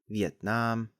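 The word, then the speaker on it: Việt Nam: Eventually, the 2 characters in this name were reversed into Yue Nan, or as it's pronounced in Vietnamese, Vietnam.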